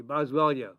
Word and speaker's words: Boswellia: Boswellia.